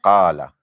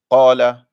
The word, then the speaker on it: قال: The most important thing in qala is the heaviness of the qaf. So qala, not qala.